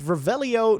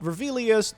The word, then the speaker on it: Revelio: rebellious oh rebellion and yes it is indeed revelio not revelius do your homework but